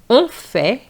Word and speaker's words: en fait: jeune jaune en fait en fait en fait en fait In fact is en fait and you need to pronounce the T.